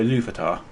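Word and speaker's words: Ilúvatar: And when the, how do you pronounce his name? The first one? Oh, Iluvatar.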